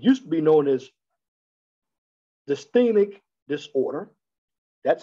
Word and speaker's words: dysthymic: depressive disorder, it used to be known as dysthymic disorder. That's how you pronounce it. I apologize if I didn't pronounce it right when I viewed the word a while back in this presentation. It's dysthymic disorder.